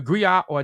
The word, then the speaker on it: griot: to West Africa the gri or jelly profession Encompass many roles the gri pronounced Grio has been referred to